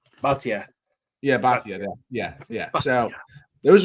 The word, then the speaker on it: Bhatia: and I think my sleeper is probably Akshay Bhatia, or how you pronounce his name. Or Kim. Kim's looking good. Akshay I don't know how to say his last name. Bhatia.